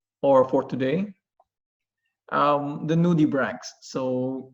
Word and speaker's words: nudibranch: so in plural nudibranchs if it's singular if it's only one um you may pronounce it as nudibranch okay so others they may call it or pronounce it as nudie branch but in a correct way it sounds like or it sounds uh to be nudibranch for singular and also nudibranchs for plural so nudibranchs are mallas